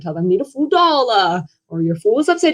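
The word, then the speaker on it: 倒: You see, the Chinese word for upside down, which is pronounced dao, sounds phonetically identical to the Chinese word for arrive or pour out, which is, you know, dao.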